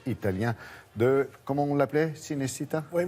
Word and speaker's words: Cinecittà: Oui, moi je dirais Cinecittà, mais ouais, bon, si bien. on veut prononcer. Française. Et on voit bien le mot Cinecittà, on le coupe en deux, ça fait cinéma d'un côté, et Città, la ville.